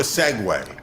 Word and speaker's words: segue: or two but but i can do a segway segway is a neat radio word for a